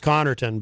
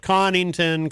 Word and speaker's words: Connarton: I feel, you know, my name, my last name is Connarton, but it's been said many, many different ways, especially recently. There's this guy in New York who makes these videos about me. He pronounces it Connington, Collington, Comington.